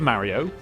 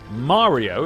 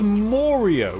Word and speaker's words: Mario: There's various ways to pronounce Mario. There's Mario. There's Mario, if you're American. And then there's Morio, which is a very strange way of pronouncing Mario, which I've heard English people use, and it's very confusing to me why you would call the man Morio, because there is no other word where an A is pronounced as or, is there?